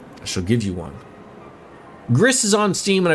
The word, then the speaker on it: Gris: Gris is on Steam and I believe it's pronounced like Greece because it's a Spanish developer.